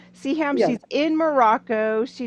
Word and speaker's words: Siham: This is the episode where we're chatting with, and I pardon me, how do you pronounce her name? Siham. Siham. Siham, Yeah.